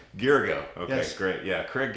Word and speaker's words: Gyergyo: If you could tell us all how to You and a pronounce lot of your other last name. people. Craig Gyergyo. Gyergyo.